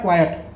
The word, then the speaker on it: quiet: Quiet. इसका pronunciation होता है क्वाइट, yes sir, क्वाइट, ठीक है।